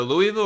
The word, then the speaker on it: Louisville: wrong I might mess this up it's either Louisville or Louisville I think it's Louisville it's Louisville okay I think the way you